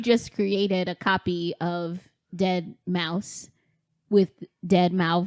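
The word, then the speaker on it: deadmau5: So it's not his name's Dead Mouse. You pronounce it Dead Mouse. Oh, the number 5. MAU 5 is a S. Yeah, it's pronounced mouse.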